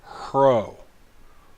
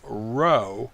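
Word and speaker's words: ῥῶ: letter is the letter CRO CRO notice I'm not saying ro I'm saying her oh it's pronounced with the H is softening it up it does make the R sound but it would be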